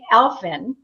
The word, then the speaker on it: Aelfin: we actually managed to pull this off elfin is am i pronouncing your last name yes because ed is